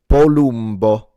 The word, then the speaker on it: Palumbo: His surname is Italian, and it's pronounced Palumbo. Palumbo.